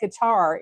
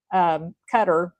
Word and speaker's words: Qatar: I think the only one, and I wouldn't even say Qatar, is Qatar. I know that's how they pronounce it, but I wouldn't even